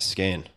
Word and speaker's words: skein: coiled and knotted got it and maybe i'm mispronouncing it i think it's gain no you got it skein all right yes you gather the skeins sorry